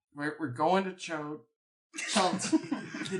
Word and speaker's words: Chult: Okay, yeah, so you were saying we're going to Chult. The name of the peninsula is Chult. Chult. Is there another Like name? bolts. Oh, like bolt, like it rhymes with bolt. Chult as in bolt.